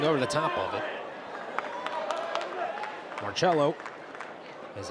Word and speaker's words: Marcello: Marcello is how it's pronounced.